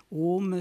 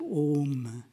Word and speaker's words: Om: Om, c'est la contraction des sons A, le son A qui se prononce au fond de la gorge, le son U qui se prononce au niveau des lèvres, et puis une nasalisation qui fait intervenir les fosses nasales.